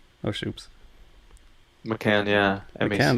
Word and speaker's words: Macan: How do you spell it? McCann? Oh, shoops. Macan, yeah, McCann. Macan.